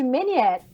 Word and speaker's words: Ménière: É doença de Meniere. O que é essa? Meniere é um francês.